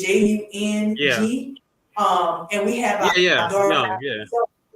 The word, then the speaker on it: Jung: in common is that we studied Jung, or Young, depending upon who pronounces it, but it's Jung.